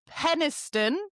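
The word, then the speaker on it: Penistone: Penniston, which is spelled penis stone near Sheffield.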